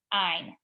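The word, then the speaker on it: -yne: Ine. Okay, you pronounce it as though it's an INE, but it's a YNE.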